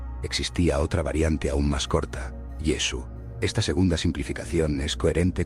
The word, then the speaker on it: Yeshu: pudo llevar a que el nombre de Jesús en su círculo familiar y social se pronunciara Yesu. Esta forma abreviada es más simple y refleja la pronunciación natural en la región de Galilea, donde Jesús creció y desarrolló su ministerio.